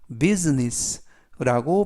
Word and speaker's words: business: 뜻을 가지고 있습니다 이때에도 발음에 유의하실 것은 S 발음이 스가 아니라 즈 그리고 S 뒤에 있는 알파벳 아는 는 이번 단어에서는 무음이라 발음이 되지 않습니다 그래서 비즈니스가 아니라 비 business라고 발음하시면 좋겠고요 그래서 conducted a business